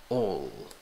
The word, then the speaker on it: all: Entonces, se escribe con A, pero la pronunciación va con O. All.